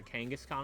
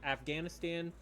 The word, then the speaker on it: Kangaskhan: co-workers bought this because we had an inside joke where she would continuously like say the name wrong. I think she at one point called it Afghanistan and at one point called it Genghaskhan.